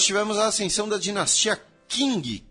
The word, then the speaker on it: Qing: a ascensão da dinastia Qing, Q-I-N-G, porém a pronúncia em chinês, se vocês quiserem ser puristas, é Qing, em 1644.